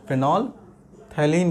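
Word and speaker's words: phenolphthalein: याद रखिएगा इसका नाम है फेनोल्फथलीन कहते हैं, फेनोल्फथलीन, पी साइलेंट रहता है, ठीक है।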